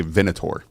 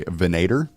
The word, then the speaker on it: Venator: I I say Venator. Okay? And then I heard someone else say Venader, which just sounds wrong. Venader sounds like the American version of a like foreign name.